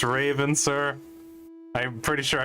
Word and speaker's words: Raven: that good time for another field trip it's pronounced Raven sir I'm pretty sure I earned that title